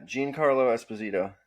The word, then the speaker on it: Giancarlo Esposito: Giancarlo Esposito. Yeah, Giancarlo Esposito.